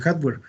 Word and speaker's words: hardware: La palabra se escribe así, hard, como duro en inglés, y ware. Entonces, así es como se escribe, hardware. ¿Sí? Nada más que se pronuncia hardware.